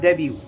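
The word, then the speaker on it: debut: one literally literally or as some of the Americans say literally okay number two the word Debbie Debbie okay which means the first appearance of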